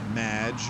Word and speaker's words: Madge: mispronounced my name it's madge which rhymes with badge uh as in duh